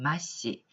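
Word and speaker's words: 末子: 장자, 경우에 따라서 장남을 일컬을 때 일본어로는 초시라고 발음을 하고요. 그에 반해서 막내를 일컫는 말은 마시, 마지막으로 나오는 자식이다 라고 해서 마시, 말자라고 쓰여 있긴 합니다만 막내라는 뜻으로 기억을 하시면 될 것 같아요.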